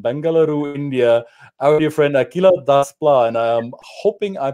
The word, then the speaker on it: Akhila: I'm hoping I pronounced your name properly so Akila welcome to the program thank you you so much Christian I'm so glad to be here and how do you say your name Akila Das yeah it's a heart C sound that